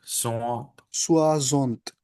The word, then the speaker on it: soixante: And how do you pronounce 60s? Soixante. Soixante.